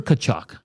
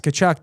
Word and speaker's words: Tkachuk: name, and I'm like, yeah, it's Tkachuk. They're like, no, it's Tkachuk. Yeah, I worked with someone at the Elks who it was spelled the same way, but it was pronounced totally different.